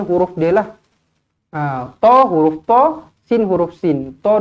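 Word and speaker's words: طس: Kena baca dengan 2 harakat lah. Tosin. Jangan kita baca tosin. Dia bukan 1 harakat, dia 2 harakat.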